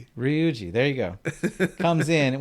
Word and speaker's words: Ryuji: You could pronounce it like a D. Really? Duji. Ruji. Okay, I'm trying my best. Anyway, father comes in. Ruji. You can always just say Ryuji. Ryuji.